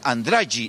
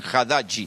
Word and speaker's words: Haddad: Los medios locales han hecho notas y los nordestinos dicen Andrade, no dicen Haddad, ni siquiera lo pueden pronunciar bien.